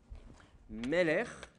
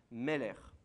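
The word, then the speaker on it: מֶלֶךְ: Meler, que vous connaissez bien en hébreu, sachant que l'accent est bien sur la première syllabe. Meler.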